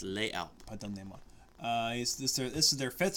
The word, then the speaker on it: Les Alpes: No, No, it's French. Well, it depends on which side of the country you're on. No, I'm talking about Switzerland. Fudge. Swiss fudge. They pronounce it different. They have a different type of French, dude. Okay. Sorry. It's Les Alpes.